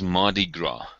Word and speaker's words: Mardi Gras: The way we pronounce this is Mardi Gras.